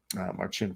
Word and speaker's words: Marcin: sweet mars or marcin sorry we learn how to say his name finally march in for the win indeed